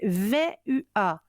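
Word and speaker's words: Vehuiah: 21 au 25 mars l'ange est vu a v u a il il s'écrit euh V e h u ah h cet ange est symbole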